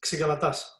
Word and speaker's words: Xygalatas: It's not easy. It's Xygalatas.